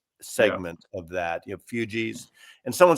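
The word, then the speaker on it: Fugees: of that, you know, fugis. And someone said I I I said the name of the band wrong. It's basically like refugee. Fug. That's it. Fugi.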